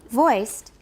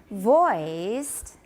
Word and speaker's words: voiced: said to be vote voiced to be voiced voiced voiced right to be voiced you're saying voiced it's voice but it sounds beautiful in english i'm sorry voiced voiced voiced because we're not done